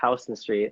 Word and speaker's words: Houston Street: pronouncing this wrong but actually Houston Street like Houston in New York in Soho this felt in this